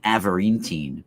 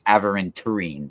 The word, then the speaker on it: aventurine: And I actually think that an avarintine would be good for you. It's about self-discipline, inner strength, psychic attunement. They have green avarintine, they have blue avarintine. I actually, it's aventurine, the way it's spelled, aventurine.